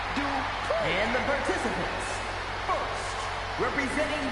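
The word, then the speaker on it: Maxxine Dupri: Here comes the talented Maxine Dupree. Michael, it's pronounced Dupree.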